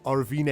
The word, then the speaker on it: Arvind: different principality different person his actual pronunciation is Arvind a totally yeah Arvind